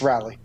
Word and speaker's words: Raleigh: __ ] is that is that how it's pronounced I don't know does he it's rally what's its rights oh you're